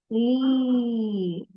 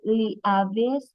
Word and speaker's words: leaves: this one we have leaves leaves picture is it isn't it leavis is it leavis picture no did you know that in English subject the words is also using some silent letters for example this one Le silent a so it means invisible so we have here when when we add these two letters E and A the sound of it is e e